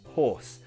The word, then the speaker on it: hoarse: like this you say my voice is hoarse yes the same pronunciation as horse horse your voice is hoarse same pronunciation different spelling if your head is